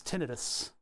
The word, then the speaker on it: tinnitus: Tinnitus is not an itis, an itis is an inflammation, so it's tinnitus. That's the proper way to say it.